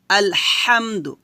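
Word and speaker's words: الحمد: যাবে না বলতে হবে আলহামদু যখন আপনি এই হাটা উচ্চারণ করবেন অবশ্যই গলার মাঝখান থেকে চিকন করে চাপ দিয়ে বলতে হবে আলহামদু এভাবে সাউন্ড বের করবেন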